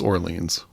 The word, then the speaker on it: Orleans: wondered is it orans from hearing band members pronounce the band name it's Orleans but yeah I got to say it's funny